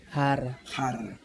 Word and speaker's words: jarra: A palavra é exatamente igual. Só que você pronuncia diferente. Diferente. Então a palavra a gente falou jarra. Jarra. Você fala rara.